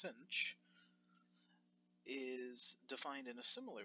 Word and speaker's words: sinh: type of cosine the hyperbolic sine function pronounced Cinch is defined in a